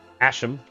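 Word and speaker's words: Ashalam: So we're in Asham. That's how you pronounce it. Asham. Asham, I think, sounds a little bit more Egyptian-like.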